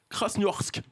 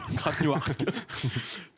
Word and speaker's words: Krasnoyarsk: Et ça a valu une malencontreuse expérience aux passagers d'un vol qui devait rejoindre, je vais essayer de bien le prononcer, Krasnoyarsk.